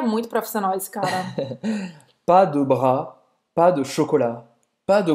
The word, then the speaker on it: pas de bras: Então, pas de bras, esse S eu vou pronunciar, não, né? Não. Pas de bras. Você nem vai pronunciar o S do pas, nem do bras.